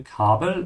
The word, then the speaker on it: Kabel: Also das Kabel, make sure to open your mouth on the A when you say Kabel, and remember that's Nur.